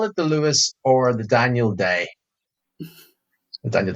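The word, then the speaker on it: Luas: you just use the Lewis spelled l u a s Lewis Lewis is H it's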